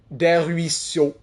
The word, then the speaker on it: Des Ruisseaux: Des Ruisseaux. Des Ruisseaux. There you go. You would think it sounds a lot longer.